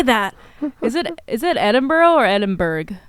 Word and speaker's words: Edinburgh: Edinburgh is correct. If you're Scottish. But if you say it Edinburgh, it's not like the end of the world in America, where anglicized pronunciations are always technically correct, thanks to colonialism. That's true. But yeah, Scottish people would rather you probably say Edinburgh.